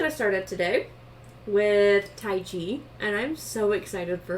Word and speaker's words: Tyche: k h e but it's pronounced tai chi like the martial arts which i found so